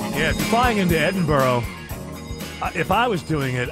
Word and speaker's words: Edinburgh: Well, it's Edinburgh. Listen, if you want it to be Edinburgh, put a B-O-R-O at the end.